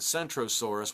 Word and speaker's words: Centrosaurus: So there's no way to mistake the two animals, but you got Kentrosaurus and Centrosaurus, one with a hard K sound and one with a soft C sound, and there was some confusion.